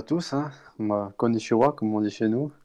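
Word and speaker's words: こんにちは: comme tu as deux N, en fait tu prononces konnichiwa.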